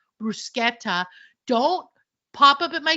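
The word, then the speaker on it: bruschetta: Sashimi you should know the correct pronunciation for brusketa which by the way it's brusketta don't pop up at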